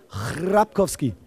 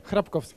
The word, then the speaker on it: Chrapkowski: Die korrekte Aussprache ist Piotr Chrapkowski. Ja, das ist korrekt. Nicht, warte, Piotr Chrapkowski. Piotr Chrapkowski. Chrapkowski, nicht so lange, nicht so lange. Ach so, Chrapkowski. Chrapkowski.